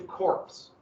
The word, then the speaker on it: corps: about like this that's the p is silent it's not marine corps